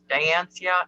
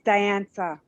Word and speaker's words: Dianza: And we got Robin and Trey and Tara, Sarah, Leah, Derek, Diancia. Am I saying that right, Diancia? It's Dianza. Dianza. Yeah. Diane and then Sa at the end.